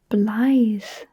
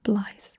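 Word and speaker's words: Blaidd: And how do we say Blythe? Sorry, how do we spell Blythe? B-L-A-I-D-D. Brilliant. And that double D makes a sound.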